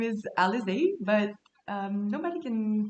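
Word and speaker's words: Alizée: world uh by the way my name is alexey but nobody can pronounce it especially like if it's in written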